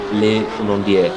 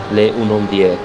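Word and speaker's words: Les Hunaudières: The street itself is actually called Le Unondier. Le Unondier. Kalau kau tengok dekat Google pun kau takkan dapat dia punya pronunciation.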